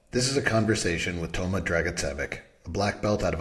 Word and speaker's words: Toma Dragicevic: I'll use the what I call the Canadian version, so it's Toma Dragicevic. Dragicevic.